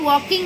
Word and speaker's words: walking: The two boys are walking on the road. Now spelling of walking is W-A-L-K-I-N-G, walking. Okay? L is silent, so you will say walking.